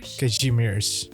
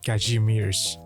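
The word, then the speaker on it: Kazimierz: Wind from Kashmir. Kajimir. Oh, that's that's how you pronounce it. Kajimir.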